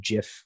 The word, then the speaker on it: gif: you and tell you it's pronounced jif like the peanut butter oh yep yep yep